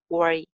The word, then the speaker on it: worry: W ki articulation ko dhyan mein rakhna hai. Worry. Don't worry. Or R sound.